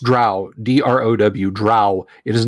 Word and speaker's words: drow: Yeah, the GDQ series gave us the drow. It is pronounced drow, D-R-O-W, drow. It is not dro. Drow like prow, sow, cow, now, how.